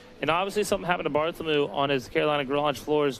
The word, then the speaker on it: Bartholomew: Bartholomew. M Ew. M E W MW on the end. Bartholomew.